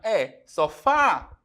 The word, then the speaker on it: sofá: que eu tenho aqui terminada em a é uma palavra oxítona é sofá ó sílaba tônica a última então eu tenho que acentuar